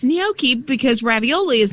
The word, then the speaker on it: gnocchi: So, pronounced what you say, gnocchi? Gnocchi. Gnocchi. Yeah, so the G is sort of silent.